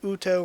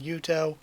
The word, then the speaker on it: Yuto: i prefer that because it is less confusing to get the pronunciation wrong and say utto rather than yuto so again i think